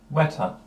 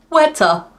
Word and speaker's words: weta: and claimed your soul WETA that's how you pronounce it WETA as in don't shake this hand shake this one it's wet there you go wet we don't get many